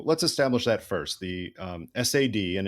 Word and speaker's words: SAD: establish that first the sad and it was never pronounced as sad unlike many acronyms that become the word they look like it was always sad